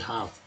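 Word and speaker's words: half: एल जो है silent letter है, इसे तो हाफ पढ़ते हैं।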